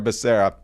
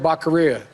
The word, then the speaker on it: Becerra: Javier Becerra. But as I went back to get that clip of Biden mispronouncing Becerra's name, listen to the longer sentence here about how Biden introduced him.